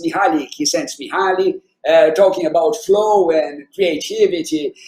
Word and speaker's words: Mihaly Csikszentmihalyi: and you probably read him, and nobody can pronounce his name. It's Mihaly Csikszentmihalyi, talking about flow and creativity.